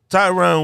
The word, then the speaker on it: Tyron: for real wait up tyrone woodley tyrone woodley tyron tyron okay i said it right like two times everybody dude it's like a byron with a b i mean with a t straight up how'd that